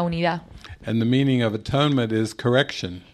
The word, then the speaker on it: atonement: You're mispronouncing the word. No lo estás pronunciando bien. It is not atonement. No es atonement. It is at-one-ment. Es at-one-ment. And I say, well, actually, the at-one-ment is a term of oneness. At-one-ment es un término que significa unidad.